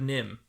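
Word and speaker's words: NIMH: to Train Your Dragon too The Secret of nim okay that's how you say it I've never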